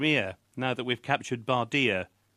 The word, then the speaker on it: Bardia: now that we've captured Bardia?" The anglicised pronunciation made it rhyme, of course, but it